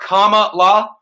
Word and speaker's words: Kamala: want to mention that her name is comma like the punctuation mark comma law kamala knows so we